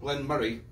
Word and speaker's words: Glen Moray: and from elgin and the discussion also is glenn moray glenn murray we're not scottish uh from scotland so they they pronounce it glenn murray okay but when i say elgin mori scotland